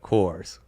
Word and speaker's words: Coors: it again of course rhymes with doors right course um it was The